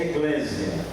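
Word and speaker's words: ἐκκλησία: Sua definição etimológica, a palavra etimologia, quer dizer, na raiz da expressão, na raiz da palavra, igreja, no grego se pronuncia eclésia, que quer dizer reunião ou assembleia, ou então chamados, tirados para fora.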